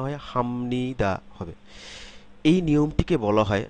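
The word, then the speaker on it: 합니다: পরিবর্তিত হয়ে ম এর মত উচ্চারিত হবে যখন হামনিদা না হয়ে হামনিদা হবে হামনিদা না হয়ে হামনিদা হবে এই নিয়মটিকে বলা হয় নাজালাইজেশন নাজালাইজেশন নাজালাইজেশন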